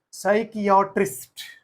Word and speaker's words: psychiatrist: is pronounced as psychology next psychiatrist same PS p so now p is silent p is silent psychiatrist next psychic again the